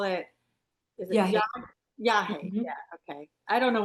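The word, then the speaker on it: yagé: call it is it yah? Yeah. Okay. I don't know why. I guess because it's spelled y a g e that I want to say yah or something.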